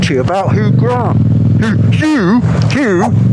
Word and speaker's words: Hugh: Hugh Grant, although it's spelt who, sort of.